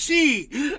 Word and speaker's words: Xi: is she x i it's pronounced she oh I'm so funny